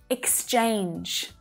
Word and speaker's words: exchange: That first syllable is unstressed, so it's lower in pitch and it's quick. Ix, ix, ix. Just like six, but without the s. Then our second syllable is our stressed syllable, right? So it's stronger, it's clearer, it's louder than the first one. And that vowel sound is the A diphthong sound. A, A, as in day, right?